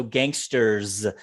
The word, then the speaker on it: gangsters: of people in general make it plural so gangsters and this one comes out as a ziz gangsters try that sentence